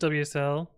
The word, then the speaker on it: WSL: I've been I've used WSL I'm not a fan of it it can work sometimes it's pronounce whistle yeah necklaces I use